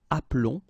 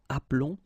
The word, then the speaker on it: appelons: that's the reason why you will get the sound appelons, okay? This E is mute or silent, appelons, and then vous appelez.